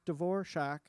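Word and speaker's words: Dvořák: received some music from this kid antonin dvorak pronounced dvor shock it's what it says in the letter and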